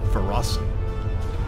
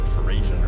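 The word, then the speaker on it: Ferasan: put up a fight so that's how you pronounce the cat people feros I was calling like fasan or something all right examine data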